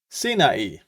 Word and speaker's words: Sinai: Lord, had spoken unto him on Mount uh Sinai, is how it's pronounced.